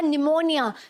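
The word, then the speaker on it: pneumonia: है ठीक है वह चुप रहता है वह साइलेंट रहेगा एन से पहले वाला पीस ठीक है जैसे आपने सुना होगा निमोनिया सबसे फेमस एग्जांपल निमोनिया राइट कि क्या है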